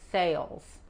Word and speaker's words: sales: The head of sales. Currently the head of sales. Okay? La S al final de sales se pronuncia como la Z.